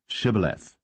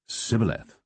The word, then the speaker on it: Shibboleth: Then said they unto him, Say now, Shibboleth. And he said, Sibboleth, for he could not frame to pronounce it right.